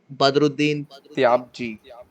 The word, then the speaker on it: Badruddin Tyabji: It's Badruddin Tyabji. Is that the pronunciation?